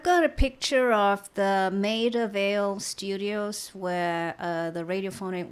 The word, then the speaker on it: Maida: I think I don't know if much has changed, but that's what it's called, and it's pronounced correctly, Maida, even though it's spelled Yes. M-A-I.